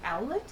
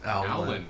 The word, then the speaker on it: Owlin: And the interesting part with him is that he is actually an, I think it's owlet? Is that how you say it? Owlin. Owlin, yes.